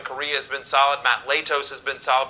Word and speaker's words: Latos: has been solid Matt Latos has been solid by the way he pronounces it latest not should we continue on